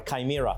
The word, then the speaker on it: chimera: It's chimera. Or chimera, correct. Chimera, monster with a lion's head, a goat's body, and a serpent's tail.